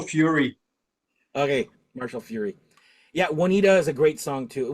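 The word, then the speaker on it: Juanita: next one was who huanita Janita I don't know how you pronounce that there Wanita and that's a cover to Wanita Wanita that's how you say it Wanita Wanita yeah that is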